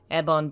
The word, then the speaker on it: Ebon: More than that, the temples of Yevon themselves are called ebonjin, ebon being the Japanese pronunciation of Yevon, and jin, a word that specifically refers to Buddhist temples or monasteries.